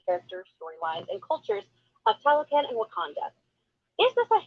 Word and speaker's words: Talokan: Halocan? And what's that? I just said Talokan. Or Jersey. Yeah, we pronounce it Jersey.